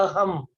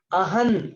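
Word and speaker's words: अहं: हमने किया था, और वो अहम जो के ऊपर अनुस्वार जो होता है, वो उसका प्रोनाउंसिएशन हम लोग करते हैं अहम, म से करते हैं, उसी का प्रोनाउंसिएशन तुम न से करो, है ना, अहन करते,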